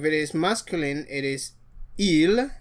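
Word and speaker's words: ils: If it is masculine it is ill. The s is silent.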